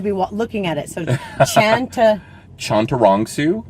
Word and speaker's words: Chantarangsu: i have to be looking at it so chanter chantarongsu chondurongsu yep that's not so hard yeah i know